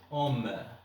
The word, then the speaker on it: ohm: Alors, on dit, ça se prononce ohm.